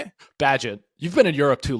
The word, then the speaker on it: Bagent: Bagent. You've been in Europe too long. Thanks. I didn't. You've been adding emphasis on wrong letters.